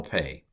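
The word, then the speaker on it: פ: i pronounce it pa when it doesn't have the doggish i pronounce it and the name of the letter is pay and then if you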